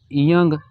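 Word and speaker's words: ㅇ: की तीन आवाज है यह पहली और सेकंड पोजीशन में साइलेंट होगा और थर्ड पोजीशन में इंग या उंग की आवाज देगा ठीक है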